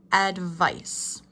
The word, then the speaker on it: advice: Okay, the vocabulary for this unit includes advice. Repeat after me. Advice. Advice. Emphasis is on the second syllable.